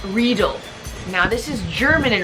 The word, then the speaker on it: Riedel: But it's like needle, but with an R. Riedel, okay?